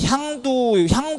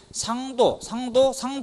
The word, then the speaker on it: 향도: 왜냐면 향도 이렇게 해서 비롯된 말인데, 전라도 같은 경우 보면은 여기 이제 히읗이 시옷으로 발음 되죠. 형님을 성님 이렇게 부르듯이 향도인데, 원래 이게 상도 이런 식으로 이제 변천돼 가지고 오늘날까지 남아 있는 풍습이다.